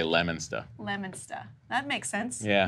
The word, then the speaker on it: Leominster: It's spelled Leominster, but we say Leominster.